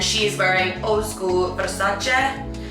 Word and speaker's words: Versace: So next up, we actually have Emily Ratajowski, and she is wearing old school Versace. By the way, that is actually how you pronounce it.